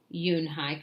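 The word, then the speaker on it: Unhei: "No, no, yunhai," corrected. "It is spelled U N H E I.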